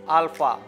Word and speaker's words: alpha: First letter is alpha. It's like capital A in English. Alpha. Alpha is pronounced like A in father.